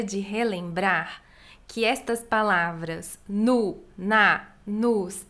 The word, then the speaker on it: no: Aqui minha pronúncia é bem marcada como nu e nus, porque nós brasileiros nunca vamos pronunciar no ou nos, um o bem feito. Vamos pronunciar quase um u, então vamos falar no restaurante, nos restaurantes.